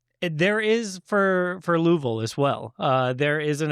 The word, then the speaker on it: Louisville: I'll split the uprights there, and then Louisville. So there's there is 3 syllables, but it's not an E.